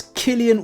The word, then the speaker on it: Cillian: That's Cillian with a hard C. So the C, it's pronounced like a K as if you're going to kill somebody, okay?